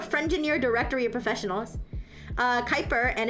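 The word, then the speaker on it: Kuiper: Oh, Quiper is pronounced Kyper.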